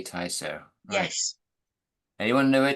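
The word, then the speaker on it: Tysoe: do you say it tyo you do say tyo yes anyone to know where tyo is t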